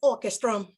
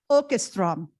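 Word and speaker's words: Åkerström: Am I saying it correctly, Lola? It's Orchestrum. Orchestrom. Akinmade Orchestrom.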